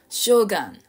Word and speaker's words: shogun: なんですけど発音記号としてはこれはメリアムウェブスター独自の方法で書いてあるんですけどシガンシガンですね将軍じゃないですね日本人は